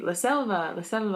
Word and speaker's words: selva: be in in Spanish these are pronounced like bees basically so since I knew how to spell it i would say la selva the son of a--